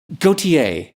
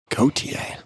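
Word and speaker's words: Gotye: Oh, there's a great Gautier. Gautier. I think that's how they pronounce it.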